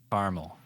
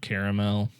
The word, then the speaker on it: caramel: I can't think of any example where I say caramel, like how it's spelled. Yeah. It's just always been caramel for me. It just seems so long to say caramel. Yeah. Caramel. Caramel. It's only one extra syllable.